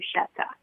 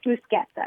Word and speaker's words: bruschetta: everybody pronounces you know a lot of people pronounce it Retta and it just makes me crazy uhuh yeah but when you go to Italy you hear it otherwise in it it's fuseta it's always been fuseta and it and it